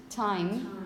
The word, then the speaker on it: thyme: by the Thames and it's about this plant time which is for cooking you know like rosemary